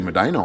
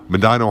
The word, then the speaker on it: Medina: Actually, Medina, Ohio. Medina, Ohio. Yeah. Okay. Yeah, we might as well pronounce it wrong, Medina, Ohio.